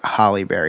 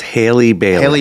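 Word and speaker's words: Halle Bailey: in this movie um I don't want to mispronounce her name because I always call her Hollyberry it's Haley Berry right Haley it's Haley biley Hile very very hard very like that she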